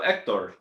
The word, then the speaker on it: Hector: But it's pronounced also Hector. There is no H in Hector.